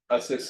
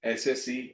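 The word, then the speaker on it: assessee: इसका नाम क्या है? असेस है। एसएससी नहीं है।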